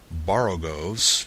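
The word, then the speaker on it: borogoves: rhyme with Groves again the first o in boros is pronounced like the O in borrow I have heard people try to give it the sound of the O and worry such as human perversity this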